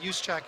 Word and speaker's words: Juszczyk: And so I know from broadcast, they pronounce it Juszczyk, and it's like a second or third cousin of Chris's. So I asked him one time, and he's like, yeah, that works.